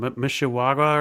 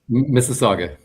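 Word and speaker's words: Mississauga: I can I can never remember how to pronounce the name of that city or say you're in Mishiaga or something. Missaga.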